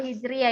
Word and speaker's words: Hijriah: Nah, ini Hijriah. tahun baru Hijriah ya, bukan Hijrah bacanya ya.